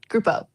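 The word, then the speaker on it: Gruppo: It means group. It's Italian for group.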